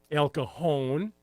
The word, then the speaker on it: El Cajon: We have silent J's here in San Diego. El Cajon, La Jolla. Well, they're pronounced as H.